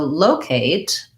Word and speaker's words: locate: is stressed um okay so locate has first syllable stress i need to i